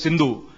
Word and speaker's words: Hindu: of this river is sindhu and being an iranian or a unani he could not pronounce sindhu he said it is hindu hafta hindu they call